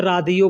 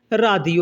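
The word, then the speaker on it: راديو: Ralph बोलते हैं Ralph radio को अरबी में रा दियो बोलते हैं रेडियो को अरबी में रा दियो ये इंग्लिश में में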